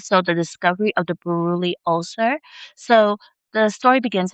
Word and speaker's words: Buruli: it should, and the infection is called a Buruli, a Buruli ulcer, and it's spelled b u r u l i Buruli ulcer.